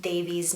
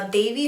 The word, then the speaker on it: Devi: at least, was when the narrator mispronounced Devi's name. Now, Devi herself, I think in the TV show, calls herself Devi, but I think her friends and other characters say Devi or Davy with a D instead of a Devi.